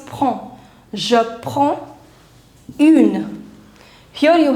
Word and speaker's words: prends: See, D and S both are silent. EN, the pronunciation is on. So it becomes prends.